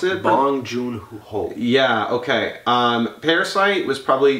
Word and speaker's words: Bong Joon-ho: And oh my god, so is it, how do you pronounce it? Bong Joon-ho.